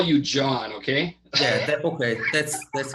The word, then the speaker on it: Can: do you pronounce it can con no it's pronounced john john see now i would never have guessed that well the c is a j in turkish thank you john and